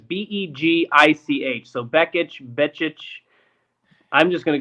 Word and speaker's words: Begich: And I don't know if it's actually pronounced Beekich. That's the best I can do. It's Begich.